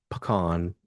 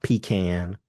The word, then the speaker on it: pecan: Now, it's pronounced pecan, not pecan. It's not pecan. And the reason it's not pecan is because no one wants to pee in a can.